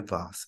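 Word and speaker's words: vase: দেখেন অন her birthday লিসে received an antique ভাস এটা উচ্চারণ হয় ভাস এটা হচ্ছে নাউন এন্টিকটা হচ্ছে এডজেক্টিভ অর্থাৎ নাউনের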